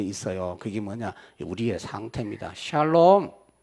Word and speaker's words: 샬롬: 샬롬. 어떤 할머니가 발음을 잘못해서 살롬 그러더라고요. 살롬. 죽을 놈이 아니고 살롬.